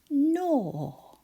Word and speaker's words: gnaw: Gnaw. But we spell it gnaw.